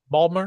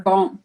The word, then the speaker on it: Baltimore: So I used to work for a company that was headquartered out of Baltimore. Okay. Baltimore. Didn't they? That's how they Balm, pronounce it, like Balmer. Balmer?